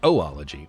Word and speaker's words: oology: g y so it kind of looks like oology but it's pronounced oology not sure if that goes for